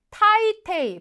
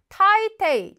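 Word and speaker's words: 大抵: 제부 전부 자 이번에는 타이테이 발음 조심하셔야 됩니다 나이가 아니라 타이테이 대게 대체적으로 표현이죠 자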